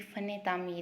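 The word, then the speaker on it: فنِ تعمیر: ये फ़न तामीर है।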